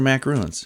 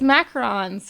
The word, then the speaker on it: macarons: attention so now use is it macarons or macaroons it's macarons macarons yeah okay so I've been saying it wrong my whole life I mean that's people if people say macaroons most of the time they're thinking of this but macaroons specifically with the two o's is a coconut pile cookie